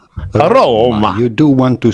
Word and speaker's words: Roma: a typical Italian pronunciation roma roma you do want to stress welcome to roma roma in English yeah with the Italian accent welcome to Roma I really roll the R's Rome Viva La Roma